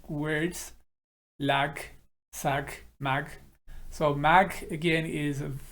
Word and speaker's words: ማግ: It's mag, it's a little bit stressed.